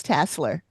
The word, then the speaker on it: Tasler: It's Tasler. That's how they pronounced it in the show.